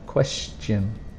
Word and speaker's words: question: end with a t that we don't really pronounce it's not steon it's Shin question research research a careful study about something to